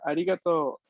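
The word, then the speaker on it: ありがとう: igual que lo anterior la pronunciación correcta sería arigato arigato soy muy chico arigato ligato y ahora sí recuerden que la uv después de una o no se pronuncia vamos a pronunciar únicamente una larga esta sería la parte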